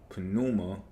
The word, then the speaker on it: pneuma: Pneuma, or pneuma, maybe the P is silent, is your lifelong alchemical ally, stating its love with every inhale and exhale.